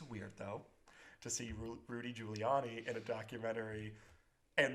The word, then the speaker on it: Giuliani: said but it included a clip of rudy giuliani that's how you pronounce his name dressed up as a woman